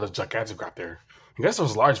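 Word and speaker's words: Gigantoraptor: I pronounced a gigaton raptor but it's actually gigantic raptor cuz he's kind of it's kind of a giant raptor.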